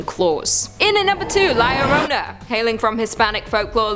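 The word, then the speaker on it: Llorona: in a number two lyorona hailing from hispanic folklore lyorona which i'm pronouncing correctly now after you guys yelled at me in a previous video is also known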